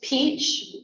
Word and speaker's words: Peach: ma'am what's her name it's Peach like the fruit okay and the last